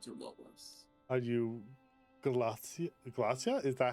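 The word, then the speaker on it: Glasya: Are you Glacia? Glacia? Is that how you say it? Glacia? Yes, Glacia.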